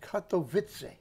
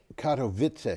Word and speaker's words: Katowice: And by the way, that's pronounced Katowice. Katowice.